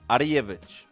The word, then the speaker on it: Arjevic: Der Günni möchte wissen, wie wird dein Nachname eigentlich ausgesprochen? Arjevic.